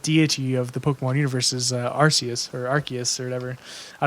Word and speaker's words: Arceus: up and apparently sorry she was originally osseous but then because it sounds like a naughty word they officially changed it to Arceus the pronunciation o arse I didn't even think